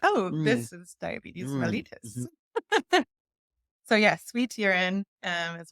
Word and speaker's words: mellitus: Mellitus or mellitus, I don't know. I think the British say mellitus.